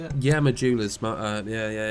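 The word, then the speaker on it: Majula: The Hub would count as Dark Souls 2 Mula is that how you say it yeah Mula yeah yeah it's exactly that and I know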